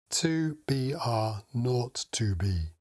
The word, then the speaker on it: 2BR02B: The zero in the telephone number pronounced N. The number was 2B R not 2B.